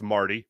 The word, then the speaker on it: Marte: how it's pronounced uh uh Marte obviously it's Marty you ain't fooling me um who else here